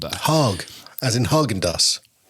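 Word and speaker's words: Hägg: Sweden who's going to tell us how to pronounce it. Heg he Okay.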